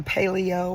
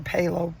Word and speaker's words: paleo: More like the paleo or palo, people pronounce it differently, diet.